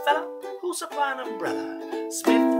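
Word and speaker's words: Psmith: While I know a fella who'll supply an umbrella, Smith with a silent P.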